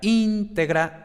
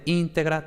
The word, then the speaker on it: integra: era tenebrae, era cátedra, porque los grupos de muta cum liquida no formaban posición, entonces la sílaba anterior no era larga y por tanto el acento recaía en la sílaba anterior, ¿no? Entonces, íntegra, tenebrae, cátedra.